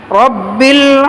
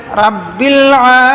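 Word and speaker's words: رَبِّ: আছে, আলহামদুলিল্লাহি, আলহামদু লিল্লাহি রাব্বিল আলামিন, অনেকে বলে রাব্বিল আলামিন, রাব্বিল হবে না, রব্বিল বলতে হবে, রব্বিল আলামিন, রব্বিল আলামিন,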